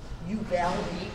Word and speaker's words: Uvalde: Okay, so we're at the Thumbtack Ranch in outside of, well, it's actually near Batesville, Texas, but the nearest big town is Uvalde.